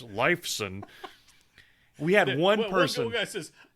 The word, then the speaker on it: Lifeson: Darin knows the dude's name is Lifeson. He knows that. Like Liffison.